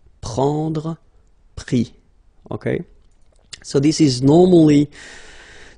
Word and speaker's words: pris: And then prendre, so E-N-D-R-E, will give ES, pris, okay? Same thing here, you don't pronounce the final S, okay?